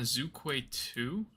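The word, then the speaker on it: Zhuque-2: And it was launched on a Zukquay 2, that's how you pronounce it.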